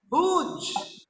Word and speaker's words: huge: For Sher Khan's huge, Huge. Here, pronounce ja sound. Ja. Huge. Huge means very big, very big.